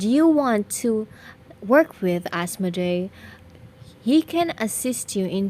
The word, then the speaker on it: Asmoday: But if you will take the reference coming from demonic beings, they will let you know that it is pronounced as Asmoday. Should you want to work with Asmoday, he can assist you